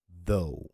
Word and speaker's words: though: So the first TH sound is voiced. Vocal cords vibrate, okay, as in though. So it's a soft D sound, right?